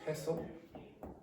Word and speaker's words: pestle: This thing is called a pestle. Don't pronounce the T.